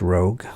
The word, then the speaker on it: rogue: this is also understandable when we pronounce rogue we say row followed by a hard G sound yeah we don't say rogue you or ragu Rouge is any of